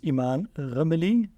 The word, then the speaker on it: Imane Rmili: Today we're in Morocco, and I'm very excited to have a very special guest today, which is Imane Rmili. Is that pronounced correctly?